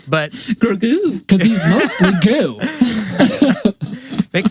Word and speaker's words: Grogu: the Darksaber and Grogu, I don't know why I'm putting the accent on the goo, but Grogu, because he's mostly goo.